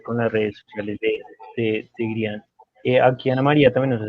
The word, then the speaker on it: Greean: Somos @Grianco. Gri, bueno, se escribe Greean, Grean, pero se dice Grian.